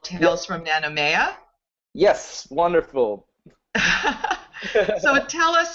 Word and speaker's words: Nanumea: several of your episodes and I hope I'm pronouncing this right called Tales From nanomea yes wonderful so tell us about that series